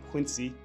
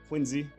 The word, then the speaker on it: Quincy: Told me it wasn't Quincy. Don't pronounce it like you're from Western Mass. Put a Z in there. Quincy.